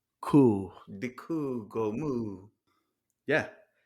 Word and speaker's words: Kuh: So it's actually it rhymes with the noise it makes. So die Kuh, Kuh.